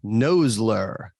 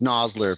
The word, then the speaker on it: Nosler: vo guy said once noseler uh mason welcome in man hey ryan how are you doing yeah no no nosler it's nosler but yeah probably one of the most mispronounced names in the industry i think yep yep